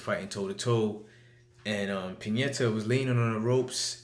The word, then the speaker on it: Pianeta: But this fight was more of a return fight for Tyson Fury against Francesco Pianeta.